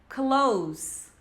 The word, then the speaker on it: clothes: Eu vejo muitos alunos querendo falar clothes, clothes, assim, mais ou menos com o som do D. Mas não, a pronúncia dela é clothes, clothes. Som de Z no final.